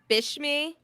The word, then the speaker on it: Bishme: I feel like at some point we have to talk about like Bishme.